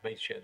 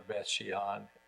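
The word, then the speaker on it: Beit She'an: So Beit Shan, that's the way we pronounce it in Hebrew, Beth Shan or Beth Shean in English.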